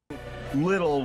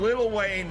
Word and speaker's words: Lil Wayne: So, Don, you keep saying little when you should be saying Lil Wayne. Lil Wayne. And Lil Wayne. Featuring 50. Featuring 50 Cent. There you go. So you were saying Lil Wayne featuring 50 Cent.